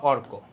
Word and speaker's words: অর্ক: দেখো শব্দটা আমি যত জোর দিয়ে বলি অর্ক, কোটা কিন্তু আস্তে, ঠিক আছে? কোর সিলাবলটা উইক, আর অরটা অনেক স্ট্রং, অর্ক, ঠিক আছে? দুইটা পার্ট, অর্ক।